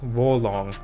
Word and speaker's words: Wo Long: they renamed it to wulong uh fallen actually they pronounced it war warlong fallen dynasty and so there are